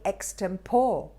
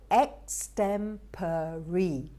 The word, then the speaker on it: extempore: look at this one many people say extempore the correct is extempori extempori i've had a lot